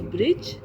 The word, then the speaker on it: bridge: That is, the word is bridge, and their silent letter in these all letters are D.